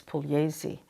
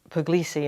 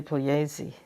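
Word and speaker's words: Puglise: the Italian way it's pesi you don't pronounce the G in Italian it's p u g l i s e a lot of people here spell it say it Pugi and in fact they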